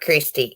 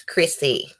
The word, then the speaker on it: Chrissy: with blow job Rainey you don't say my name right either he's Chrissy with no tea yeah it's not Christie it's Chrissy I'm looking at topperjack's